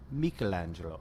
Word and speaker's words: Michelangelo: it's the Italian director Michelangelo antonioni I think you got it got it antonioni the only my only note is Michelangelo okay gotcha um and